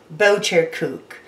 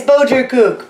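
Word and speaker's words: Boterkoekje: what we call and I'm gonna say it wrong boat your coop come on oh my dutch friends and family this is your opportunity at my expense it's boater kook butter cookie it uses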